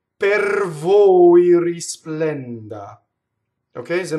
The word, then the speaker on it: per: P-E-R does not rhyme with the fruit, pear, right? Or a pair of shoes. No, it's per. So if you separate it like that, you'll do it perfectly. Per, right? Rolled R. Why? Well, we have a final R, but the next word starts with a V. So this R is going to roll.